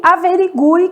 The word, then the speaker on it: averigue: Então, a gente tem quero, que o U é nulo, sequência, que o U é semivogal, e averigue, que o U tem um som forte, né?